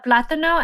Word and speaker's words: plátano: Plátano. Remember that when pronouncing this word, you want to put emphasis on the syllable with the accent. So it should sound like plátano.